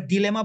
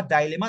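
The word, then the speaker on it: dilemma: ডিলেমা is neatly summarised আপনারা ডিলেমা বা ডাইলেমা দুইটাই বলতে পারবেন উচ্চারণের সূত্র ডিলেমা বা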